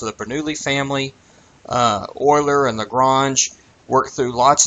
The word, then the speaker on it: Euler: kind of single out euler e-u-l-e-r that's pronounced euler who produced probably more